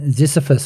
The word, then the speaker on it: Ziziphus: And Ziziphus, have I pronounced that correctly? Yes, you have.